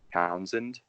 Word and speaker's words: Townshend: Yeah, so my YouTube channel is my name, Townshend, and the Townshend has a silent H, so spell that.